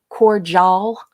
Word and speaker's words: cordial: of Heck from everyone for not pronouncing um the D as a j and uh and for uh pronouncing the I folks I love you very much but just go check your dictionaries okay in the U.S they they do pronounce it cordial you know um there's there's no j you know Carol that's